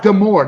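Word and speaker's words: D'Amore: former TNA Scott Amore Scott deore not dmore deore sorry deore deore sorry I was pronouncing it like it's written but don't don't pronounce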